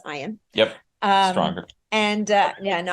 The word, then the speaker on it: Ian: Ian, which Other people might pronounce it Ian, but it's Ian.